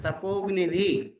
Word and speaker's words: तपोग्निभि: पहले हत बोलो फिर तपोग्निभि, अग्नि नहीं बोलना है, तपोग्नि आ साइलेंट है, तपोग्निभि। अग्नि भी लिखा है, तपोग्निभि।